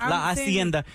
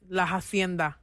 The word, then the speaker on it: La Hacienda: Laenda, because in Spanish, you know, you skip through that H, right? Yeah. But it's when you spell it out, you're spelling out the word hienda for your Instagram. In Spanish, Lai, people will know it's with an H, but it is Laenda.